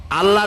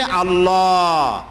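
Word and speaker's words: الله: আল্লাহর নামটা হচ্ছে আল্লাহ।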